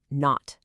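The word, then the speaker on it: naught: And it has a special pronunciation. You don't say eo or delta G circle. You say not.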